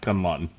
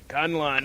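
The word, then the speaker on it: K'un-Lun: I believe it's pronounced Kunlun. Kunlun.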